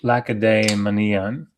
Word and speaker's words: Lacedaemonian: He says it's pronounced Lacedaemonian.